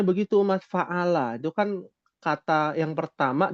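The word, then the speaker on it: فعل: Jadi cara bacanya begitu Mas, fa'ala.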